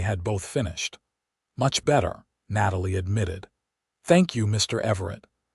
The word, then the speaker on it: Natalie: "Natalie," Vincent repeated, and the way he said her name with a slight emphasis on the second syllable made it sound almost beautiful.